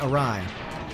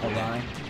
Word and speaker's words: awry: as a result went awry. Which is a funny word, awry. Like when I was a kid, I always thought that it was pronounced awry. Awry. Because that's how it's spelled.